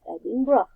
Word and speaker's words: Edinburgh: this video so that's it so the correct pronunciation for ebi and burth is adding bro okay sorry okay let's take a look on